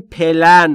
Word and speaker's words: plan: یا در مقابل پلن در فارسی میگیم پلن ولی تلفظ درست انگلیسیش اینجوریه پلن پلن بین پی و ال صدایی وجود نداره ما هم اجازه نداریم